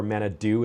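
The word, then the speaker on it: Main-à-Dieu: God in French is Manadieu, and Manadieu, or Manadou as they pronounce it in Cape Breton, is where my mom's from.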